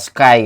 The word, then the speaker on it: Schuyler: Ini di buku ini yang paling awal disebut itu namanya, bacanya ini kalau per huruf ya, SCHUYLER. Spellingnya ini gimana ini? Spellingnya itu ya Mbak Sky gitu ya, kita sebut aja Mbak Sky gitu ya.